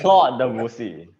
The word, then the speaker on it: Claude Debussy: You purposely want me to pronounce the word Claudio Pussy. Claude Debussy.